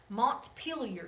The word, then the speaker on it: Montpelier: that's the capital okay Vermont kind of an odd word Montpelier is how you say that Montpelier Vermont Rhode Island Providence